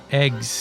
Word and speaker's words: AGWS: we're told about the agws pronounced eggs eggs eggs a g